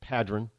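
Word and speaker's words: Padrón: good cigar like this padron or padron depending on how you want to pronounce it welcome back to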